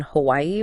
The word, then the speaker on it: Hawaii: yeah our sources say cook probably heard something closer to the actual pronunciation Hawaii but you know that spelling yeah it reflects how English sounded way back then exactly back then W in English sounded more like why making why sound like why oh wow and